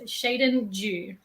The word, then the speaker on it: Sheydin Dew: So the preferred pronunciation of my name is Sheydin Dew.